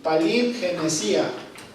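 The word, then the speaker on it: παλιγγενεσία: término bíblico viene de la palabra griega palí n gencía perdón palín genesia con acento en la ingeniería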